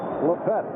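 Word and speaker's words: Lippett: He changed the pronunciation. 6-yard pickup. Ronnie Lepet down in Miami 2 weeks ago with the New England Patriots as they played the Dolphins on Monday night. Everybody, all of his friends, as we take a look at Freeman McNeil, seems to be on. All of his friends were calling him Lepet. He says, that's my real name. That's the real pronunciation.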